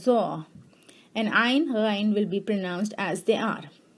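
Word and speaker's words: ظ: And Toy will be pronounced as Taw, and Zoe will be pronounced as Zaw.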